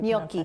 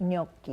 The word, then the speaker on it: gnocchi: How do you Gnocchi. pronounce that? Gnocchi.